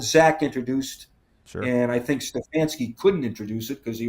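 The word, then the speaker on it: Stefanski: a style that Zach introduced and I think Stfansky couldn't introduce it because he was he had no quarterback.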